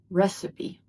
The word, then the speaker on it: recipe: And in American English it's pronounced as recipe. Recipe not recite or recipe. The stress is on the first syllable and we also pronounce the last e sound recipe.